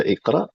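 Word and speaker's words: اقرأ: Kenapa dibaca Iqra? Ya, karena harakat huruf ketiganya fathah, maka hamzatul wasal yang dibaca kasrah.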